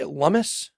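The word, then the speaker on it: Lummis: uh cynthia lummus uh is it is how you say lumus supposedly yeah like hummus but with an l plum do you support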